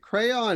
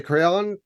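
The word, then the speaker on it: Craon: the crayon and uh it's pronounced like crayon as far as I can tell justay yeah uh so John de crayon bit of an [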